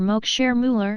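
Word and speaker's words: Max Müller: answer was suggestive if mr mook share mueller as he pronounced the name were a brahmana and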